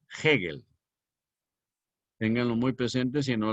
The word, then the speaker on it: Hegel: Hegel, que se escribe con H, E, G, R, L, Hegel.